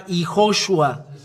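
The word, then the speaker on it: יההוֹשֻׁע: And there is a dot above, and it becomes sh. As there are three dots below, so shu. That's why YAHOSHUA.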